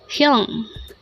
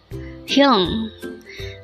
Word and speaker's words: 형: HYEONG. HYEONG. This is composed of just one syllable. Pronounce it with me. HYEONG. HYEONG.